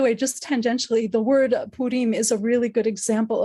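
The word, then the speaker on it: Purim: would have called it Pim the um the emphasis falls on the last syllable right it's um versus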